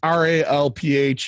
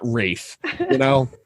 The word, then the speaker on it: Ralph: Your name is Ralph. It's Ralph. You're not Rafe. Nobody pronounces Ralph as Rafe except for you, and you're being an asshole.